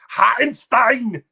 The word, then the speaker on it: Hartenstein: To say his name properly. Hartenstein. Like T-Bone's favorite beer, Warsteiner.